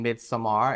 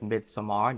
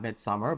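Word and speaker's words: Midsommar: Blair Witch Project and mid Samar and yes I'm saying that correctly the director pronounces it midar not Midsummer but you do you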